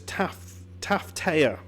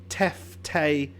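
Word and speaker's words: Tefteå: these things, so I've been pronouncing this Taftea, but that's not how you pronounce it. It is Teftea. Tefto, which I would have never have guessed from that, and I'm probably going to struggle to remember.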